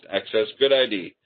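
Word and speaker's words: AccessGUDID: the open FDA and access good ID actually is the way I'm I'm hearing it pronounced access good ID um uh which is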